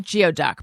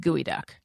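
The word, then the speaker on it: geoduck: Yeah, but Trevor's wedding was gooey duck, which looks like geod duck, but it's pronounced gooey duck.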